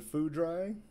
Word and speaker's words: Foudrai: little bit about me my name is alden fudrei and yes it is pronounced like that it's a bit of